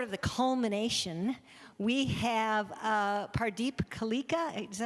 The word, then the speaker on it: Pardeep Kaleka: And tonight, sort of the culmination, we have Pardeep Kaleka.